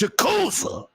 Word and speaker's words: Yakuza: Y'all all saw that my love for Yakuza as I was getting down on it earlier this week. And of course, I'm always doing a lot of different things. You're not saying it right, Bloody. It's Yakuza.